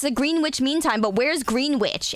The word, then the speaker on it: Greenwich: There's like a W and an and an E, so it's Greenwich.